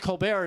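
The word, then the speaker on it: Colbert: Steven Colulbert uh just pronounced Colar and and people will think you're really smart.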